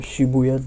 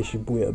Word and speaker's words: Shibuya: exploring Tokyo and the Shibuya District I think I'm saying I used to say Shibuya but in the game they say Shibuya so I presume that's how it's said but yeah it's been